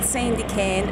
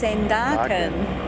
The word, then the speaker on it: Sandakan: Found out we've been saying it wrong all this time. It's not Sandakan, it's Sandakan.